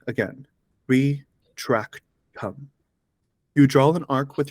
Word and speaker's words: Retractum: The incantation is Retractum. Listen to the pronunciation closely. Again, Retractum.